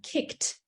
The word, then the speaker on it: kicked: if you think about a word like kicked the sound on the end is actually a t but we don't spell